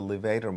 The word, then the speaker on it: levator: that lifts the eyelid called the levator muscle, spelled like the word elevator, but without the E.